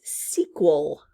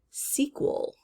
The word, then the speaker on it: sequel: that category next is sequel sequel this word means it's the second one in a series it's the sequel it's the next all right c cool it's not in the first syllable and we do hear the q u next mosquito mosquito when